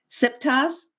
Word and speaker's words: Siptah: And I might need you to help me with the pronunciations to make sure I get it right. So we have KV66, Siptah's Legacy. Is that how you say that? Siptah?